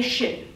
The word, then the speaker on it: Xin: It has an X, but it's pronounced like the like part. The problem is, whenever I do this, they'll repeat it back to me with, "Oh, I get it, like Sin," or "Oh, I get